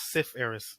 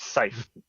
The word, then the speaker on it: Cypherus: I thought it was Sif Eris, like, syphilis? No, it's Scythe. Pronounced Scythe. Okay. If it was Sith, it was actually no. If you actually type it in, it's actually pronounced Scythe when you do PH. If it was F, it would actually be Sith.